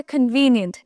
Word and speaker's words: convenient: আচ্ছা, এর পরেরটা বলছে কনভিনিয়েন্ট। এটার উচ্চারণ খন হবে না, এটার উচ্চারণ খান হবে, কনভিনিয়েন্ট, কনভিনিয়েন্ট, ওকে?